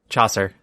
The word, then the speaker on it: Chaucer: Chaucer. Rhymes with saucer.